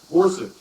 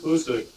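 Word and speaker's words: Boucq: After 6 months of training, the division headquarters was relocated to the town of Bousek, that's spelled B-O-U-C-Q, 34 miles south of Verdun.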